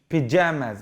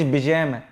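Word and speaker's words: pajamas: بص دي بقى بالبي، بيجاماز. بص بص بيجاماز، بيجا بيجا. ما قلتش بيجامه، هي في العربي بيجامه لكن هي في الانجليش بيجاماز، بيجاماز.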